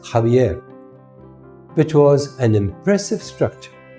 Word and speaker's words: Xavier: Xavier's family lived in the castle of zavier pronounced jaier which was an impressive